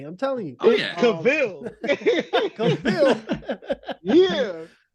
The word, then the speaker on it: Cavill: Cavill, I always say his last name wrong, but I like the way you say it, though.